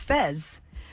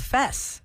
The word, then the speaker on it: Fez: It's spelled Fess, but they always say Fez.